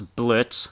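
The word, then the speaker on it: Blitzø: also see that the boss blitz because the o is silent had slept with a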